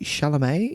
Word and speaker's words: Chalamet: big fan of Timothy Chalamet. Is that how you say his name? That is how you say it. And you've got to say it with that little bit of Chalamet to it.